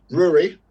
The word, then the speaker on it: Rory: Rory. Hey, got it right. Good work. Rory's in. Yeah. Because Rory rhymes with brewery.